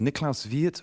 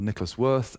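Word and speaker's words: Niklaus Wirth: It's I think it's Nicholas Viet or Nicholas Worth. He used to make the joke that you can pronounce either way. One's by value and one's by name.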